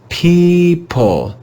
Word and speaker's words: people: the long e sound the digraph e o is read as e this word is people people people the letters e o